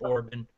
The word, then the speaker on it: Orban: got Orpid or I know I'm pronouncing his name wrong, Kip Orban.